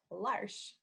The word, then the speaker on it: L'Arche: in the video mentioned our name is said lars like marsh rhymes with marsh and it means the